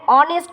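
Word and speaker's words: honest: আমি করতে পারি এ, কিন্তু এইচ ও এন ই এস টি, এইচের উচ্চারণটা এখানে হয় না, এখানে অনেস্ট উচ্চারণ হয়।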